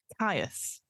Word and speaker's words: Kyuss: Kiss. Kiss. Spawn of Kiss. I think that's how you pronounce it. Caius. Sorry, spawn of Caius, according to Google pronunciations.